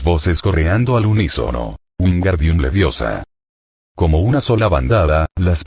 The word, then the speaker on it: Leviosa: y lo pronunciaste mal es Levi o sa no levio sa Cuéntame tus secretos e